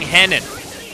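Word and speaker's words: Renan: chat that are wondering why are rich and Andrews saying Henan well my friends that is actually the way that it's pronounced in Portuguese Brazilians speak and we've got a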